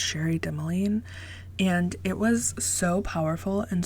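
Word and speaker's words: Cherie Dimaline: The Marrow Thieves by, I believe her name is pronounced Sherry Demeline.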